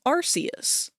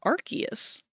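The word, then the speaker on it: Arceus: I thought that it was Arus, but then we had that game come out and I think they pronounce it Archus like in the game.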